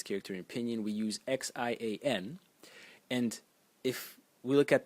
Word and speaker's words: 限: The next character, and this is when finally we have a difference in pronunciation, is pronounced Xian. Xian.